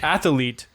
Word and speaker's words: athlete: So athlete. athlete. It drives me crazy when people add extra syllables.